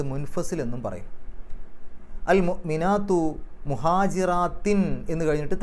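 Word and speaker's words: مهاجرات: എന്നും പറയും അൽ മുഅ്മിനാത്തു മുഹാജിറാത്തിൻ എന്ന് കഴിഞ്ഞിട്ട് തൻവീൻ മുഹാജിറാത്തിൻ എന്നുള്ളതിന്റെ അവസാനത്തിൽ തൻവീൻ അതിനുശേഷം ഫാ ആണ് ഫാന്റെ മുമ്പ് തൻവീൻ വരുമ്പോൾ ചെയ്യുക മറച്ചുവെച്ചുകൊണ്ട് മണിക്കുക അപ്പൊ മുഹാജിറാത്തിനു ആ ഹുന്ന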